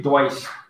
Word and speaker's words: Deutsch: We don't pronounce T. This one we say Deutsch. Sh sound.